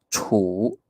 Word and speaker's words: 处: 好，处，它是第几声？第 3 声，对不对？处 3 声。